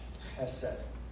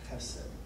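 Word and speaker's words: חֶסֶד: You pronounce it's a very hard H in the back of your throat, like the J in Spanish, chesed, chesed.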